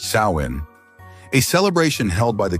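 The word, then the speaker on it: Samhain: in an ancient festival called samine pronounced sain a celebration held by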